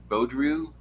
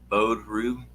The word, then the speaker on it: Beaudry: say your last name Beaudry bow drew right Oh bow drew I am chopping up